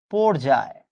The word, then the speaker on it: পর্যায়: ওই শব্দটা হবে হচ্ছে পর্যায়।